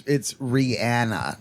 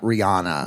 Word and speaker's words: Rihanna: It's Rihanna, not Rihanna. Rihanna.